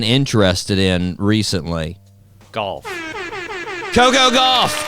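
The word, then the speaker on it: Gauff: in recently golf Coco golf correct all right let's go let's go there we go now it's it's spelled g u FF but it sounds you know it's close enough golf golf uh yeah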